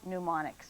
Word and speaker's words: mnemonics: For 10 points, spell mnemonics. Palmerton, Benjamin. P-N-E-U-M-O-N-I-C-S. Goes over to Lehighton. Time is up. It is M-N-E-M-O-N-I-C-X. C-S. Of course, the M is silent.